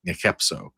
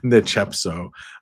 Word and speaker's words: Nechepso: And apparently, according to Cameron Cassidy, he he told us that the name is supposed to be pronounced Nekepso. Oh, yes. And he was pretty bummed that we keep calling it Nechepso.